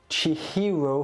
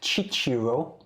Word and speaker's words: Chihiro: words people yeah probably chihiro fujisaki yeah makes sense not chichiro is known for all